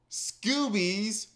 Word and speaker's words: Scoobies: We took that and basically said, as giant Joss Whedon fans, hey, Scoobies rhymes with movies.